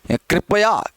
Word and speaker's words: कृपया: कर लेना, कृपा, कृषि, कृपया, कृपया करके। कई लोग बोलते हैं कृपया, कृपया नहीं है कृपया, कृपा, कृषि, ऋषि, ऋतु, ऐसे बहुत सारे शब्द हो सकते हैं।